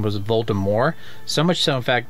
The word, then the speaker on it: Voldemort: gave up and said okay his name is Voldemort I hate silent letters I mean it's just it's just not